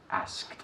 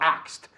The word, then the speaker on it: asked: Asked. No axed. Okay, axed is a machete ahí. Yeah, this is to axe somebody.